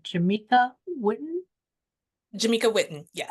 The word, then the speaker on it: Jameka Whitten: I'm hoping I'm pronouncing it right. Jameka Witten. Jameka Witten.